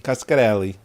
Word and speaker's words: Coscarelli: This one is Coscarelli. It's pronounced as it's spelled.